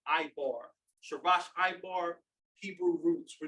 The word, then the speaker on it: Ibar: The second word is Ibar.